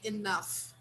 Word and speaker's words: enough: money enough money yes this little word here this final syllable here has the meaning of f so we say enough enough yes very good yes